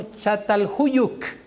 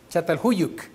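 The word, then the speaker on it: Çatalhöyük: Se pronuncia algo así como Chatalhuyuk. Chatalhuyuk.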